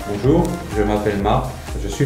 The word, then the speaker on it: Bonjour: Bonjour. 우리 봉주를 헬로인데. 야, 우리 저는 봉주를 헬로. 근데 진짜 발음하고 싶으면 봉주를 안 돼.